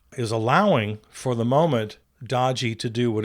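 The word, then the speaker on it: DOGE: And I'm the only one who pronounces it correctly. It's pronounced Dodgy.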